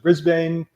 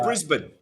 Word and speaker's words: Brisbane: start something in brisbane wow that's how you pronounce it brisbane yeah it's in brisbane brisbane brisbane i knew there was a special